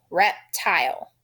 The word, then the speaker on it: reptile: The E says nothing. His job is to tell the I to say its name. And that is a vowel consonant E syllable. Reptile.